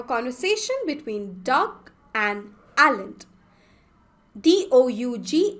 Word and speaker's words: Doug: D-O-U-G is pronounced as Doug.